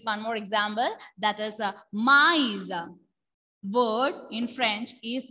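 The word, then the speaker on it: maïs: That is mice. Word in French is mice. Mice. Repeat everyone. Mice.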